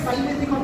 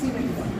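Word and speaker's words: simethicone: সিমেট্রিকন অনেকে সাইমেট্রিকন বলে, actual pronunciation হচ্ছে সিমেট্রিকন।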